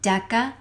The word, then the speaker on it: deca: they come together and the hard K sounds are to the left kilo and deca also don't forget that